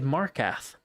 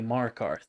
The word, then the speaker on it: Markarth: He said Markath, which is, and it's not like accent, like he maybe said like Markath, like he's from Boston. He just straight up said it wrong. And it's like, there's no way you've played like 1,000 hours of Skyrim and you don't know how to say Markarth.